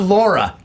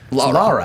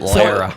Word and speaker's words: Lara: I know it's sad, but It's not Laura. Lara. Lara Croft. I pronounce it Lara.